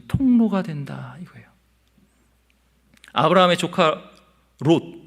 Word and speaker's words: 롯: 된다 이거예요 아브라함의 조카 롯 여기는 로드 입니다 발음을 주의해야 해요 롯은 어떠 초 수동